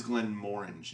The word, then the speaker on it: Glenmorangie: of whiskeys did you know that this is glenmorangie yeah i've heard people say the name of it i don't know my brain doesn't always compute straight out when i'm just pronouncing it so it is glenn moringe if you're interested that way you can sound